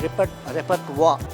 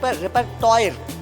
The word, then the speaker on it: repertoire: Say a tough word called repertoire, but you don't find wa in that. T-O-R-E-P-E-R-T-O-I-R-E. So as a child will looking for repertoire, but no, it's important a child understands the pronunciation of the word.